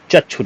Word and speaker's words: चक्षु: शब्द है ठीक है चच्छु रोग होता है ना कि चच्छु रोग चक्षु रोग शुद्ध है छोटा उ मात्रा वाला